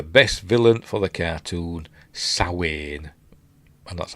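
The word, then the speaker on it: Samhain: Um, I wish they would bring the best villain for the cartoon, Sawin. And that's how you pronounce it.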